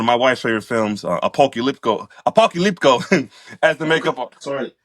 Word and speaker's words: Apocalypto: my wife's favorite films, Apocalypto, as the makeup artist. Sorry, Apocalypto. Oh, Apocalypto. There we go, right there. With the T. Oh, T of Tower. oh, Apocalypto.